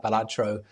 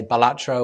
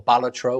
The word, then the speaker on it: Balatro: And when it's called out in the nominees list, they'll either say Balatro or Baltatro or another variant. And he always tweets it's pronounced Balatro and it's always the same tweet.